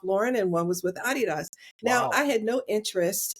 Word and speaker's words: Adidas: out of college by Adidas and it's actually pronounced so we know it is Adidas in the States but it's actually pronounced Adidas because it's someone's name it's AI dsler so